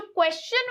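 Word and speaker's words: question: बनेगा शन बनता है लेकिन अगर यहां पे इससे पहले हम एस लगा दें तो फिर ये क्या हो जाएगा चन हो जाएगा क्या हो जाएगा चन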